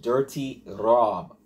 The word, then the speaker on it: Durty Rob: We're going to New York, to go visit Durty Rob. Sounds like I gotta say it like an idiot. Durty Rob, man. Like Durty Rob, the way you spell it, man.